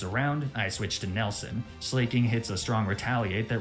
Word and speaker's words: Slaking: to be perfectly honest never once considered that it wasn't slaking I understand that slacking makes more sense I've started saying slacking